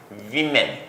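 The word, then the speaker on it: women: वीमेन। इसको pronounce भी आप क्या करेंगे? वीमेन। गूस की जमा गीज।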